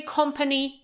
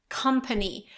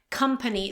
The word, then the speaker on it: company: We can't say company, but company, company. So it's like come, okay? To come, company.